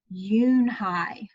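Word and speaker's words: Unhei: no unhide it spelled you and hei it's pronounced Eun Hye Eun Hye oh it's you you hey the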